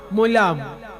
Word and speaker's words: মোলাম: গাইবার সময় বলতে হয়, সখী এইবার আমি মোলাম, মানে ওই দিকের ভাষার উচ্চারণটা মুর্শিদাবাদের উচ্চারণ, মোলাম।